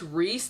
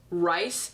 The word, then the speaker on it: Rhys: which by the way Rhys is pronounced Reese the whole book I'm pronouncing him rice and then at towards the end I was like oh it's probably not rice it's Rye it's like like rye